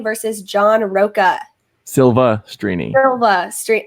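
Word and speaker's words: Silvestrini: 2, and then Rachel Silverstrini versus John Roca. Silva Strini. I know that. Did I say Silver?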